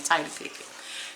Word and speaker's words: Tidye Pickett: That's how I pronounce her name, Tidye Pickett.